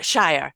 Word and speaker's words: Mindy Scheier: some incredible things for people is Mindy uh Shire am I have I pronounced it right now oh excellent good now